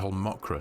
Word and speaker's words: Holmakra: macra is actually pronounced it makes the a turn into an uh an O pronunciation so it's actually a whole mokra so thank you very